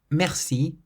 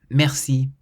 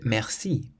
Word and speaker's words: merci: You always emphasize the last syllable or the final part of the word. So in the word merci, you'll hear that we stress the si part, merci.